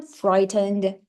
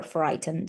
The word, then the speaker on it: frightened: You you're frightened of lifts. Okay. Which letter don't we pronounce here? And the students tell me that the letter that the second to last letter is not pronounced.